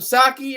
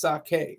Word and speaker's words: sake: some you having some saki early in the sake in early in the morning I have to remember that it's pronounced sake not saki um so um yeah